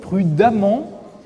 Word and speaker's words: prudemment: Prudemment, c'est un adverbe qui vient de prudent, Comme prudent a lui-même un E, prudemment conserve ce E, bien qu'on prononce prudemment.